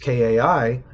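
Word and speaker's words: kaʻi: And if you spell kai and if you pronounce kai just kai, that's what it means. But if you put a glottal stop between the a and the I and you say kai, that means to lead.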